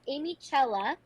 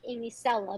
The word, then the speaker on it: Amiccella: like this question um it's amy cella it looks like amy sella but it's the italian spelling so the two c is gonna make the ch